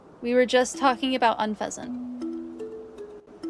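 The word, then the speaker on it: Unfezant: It's because you say unfazant. What? You're the bad influence. No, I say that's the correct one. Unfasant is the correct pronunciation.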